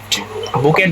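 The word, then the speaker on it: bouquet: বুকেট বলা হয়, বুকেট। কিন্তু তোমার মানে ইংলিশে স্পেলিংটা হচ্ছিল এরকম, সরি, বউ কুয়েট। ওকে, কিন্তু এটাকে বাংলায় বলা হয়, বাংলায় উচ্চারণ করা হয় বুকে।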